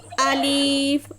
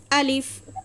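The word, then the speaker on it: ألف: আলিফ হরফটা টান ব্যতীত পড়িতে হয়। এটাতে কোন টান হবে না। তাহলে মাখরাজ সিফাত বুঝতে পারলেন আপনারা? বলেন কথা বলতে হবে আমার সাথে। আমার সাথে কনভারসেশন করবেন। ভালো লাগবে ক্লাসের মধ্যে। হ্যাঁ তাহলে আলিফ উচ্চারণ করতে কোন বা টান দিবেন না। আলিফ অথবা আলিফ এভাবে বলবেন না। ঠিক আছে? আলিফ আলিফ বলেন।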